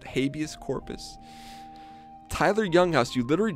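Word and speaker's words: habeas corpus: welcome back bud e Yus Corpus Act that's a real thing believe it or not that's a real thing I don't think it's pronounced it's spelled that way but habus Corpus Tyler Young House you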